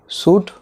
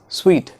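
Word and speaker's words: suite: can make career Suvarna सूट नो इट इज नॉट सूट स्वीट स्वीट स्वीट potato आईएस facing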